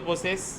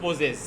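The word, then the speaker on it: possess: পোসেস শব্দটা দুইটা sound, দুইটা উচ্চারণ করা যাবে। পোসেস বলতে পারো অথবা হচ্ছে পোজেস। কি বলতে পারো বলো? পোসেস অথবা কি পোজেস।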